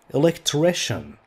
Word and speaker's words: electrician: etc let's add electrician this sounds like chené chené electrician he is someone whose